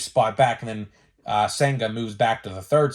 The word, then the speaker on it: Senga: I guarantee it but I know his last name is pronounced senga so he is the